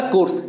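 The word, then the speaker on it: coerce: चलिए आपका one word number 96 है वो आपका कोर्स, ठीक है, ये लिखा हुआ है कोर्स, इसका प्रोनाउंसिएशन कोर्सी होता है साथियों, ठीक है।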